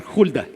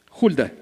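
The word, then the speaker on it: Hulda: tías a la profetiza se escribe ahí hilda pero en realidad se debe pronunciar julia julia mujer de salud hijo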